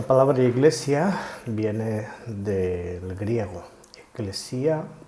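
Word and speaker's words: ἐκκλησία: Eclesia, tuceu, es como se pronuncia en el Nuevo Testamento.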